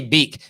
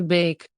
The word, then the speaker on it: Beek: pronunciation donnie van der beek see we say beak but the dutch pronunciation listen don't live on the bake don't even the bake don't leave on the bake bake there we go so stop calling him